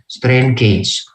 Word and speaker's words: gauge: Strain gauge, tulisannya gauge boleh, gage boleh, bacanya gauge, strain gauge.